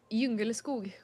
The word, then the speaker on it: Djungelskog: It is pronounced Djungelskog. Djungelskog.